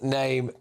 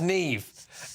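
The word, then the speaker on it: Niamh: and top of it is the Irish girls name which is pronounced nev not nam or nam and definitely not nif but experts at uh there's this site apparently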